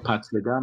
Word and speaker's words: Pacyga: Or Pacgyga, my name is, that's how you say it in Polish.